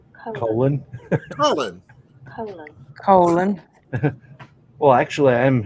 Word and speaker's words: Colan: Colan. See, that's my name. That's how my name is pronounced, folks. Colan.